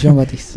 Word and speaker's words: Jean Baptiste: Le decimos JB porque nadie sabe pronunciar bien su nombre. No, es Jean Baptiste.